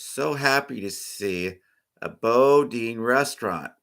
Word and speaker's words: Boudin: The first food I want to mention was a signature Bodine sourdough bread, which has been a staple in San Francisco for many, many years. In case you do not know, Bodine is spelled Boudin.